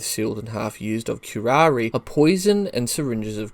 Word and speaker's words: curare: is and how it's used in medicine curari pronounced curari was used by South American Indians as arrow